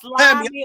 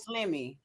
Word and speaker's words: Slimmy: No, is your name pronounced Slimy or Slimmy? Because I called you Slimmy. No, it's Slimmy. It is Slimmy. My name is Slimmy. Yeah, it's Slimmy. See, Ross talking that Slim Thug shit.